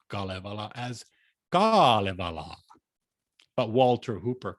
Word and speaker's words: Kalevala: His love of the Kalevala, above all the national epic poem of Finland, is well known. Funnily enough, Lewis mispronounced Kalevala as Kalevala, but Walter Hooper corrects him.